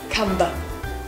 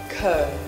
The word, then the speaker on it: comb: Because it's natural for you to do so, actually the b sound in comb is a silent one. So instead of saying cumber, you say comb.